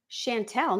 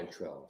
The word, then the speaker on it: chanterelle: Oh, chanterelle. Is that how you say it? Chantel. No, it's not. Chanterelle, sorry. Chanterelle.